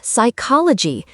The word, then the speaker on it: psychology: Same with psychology. The P is silent or hour.